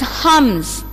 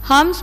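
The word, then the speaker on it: हंस: This one is Hums. Hums means swan. Ha-im-sa. Either you can say this matra in or im. Okay, here we should pronounce this as im. Ha-im-sa. Hums.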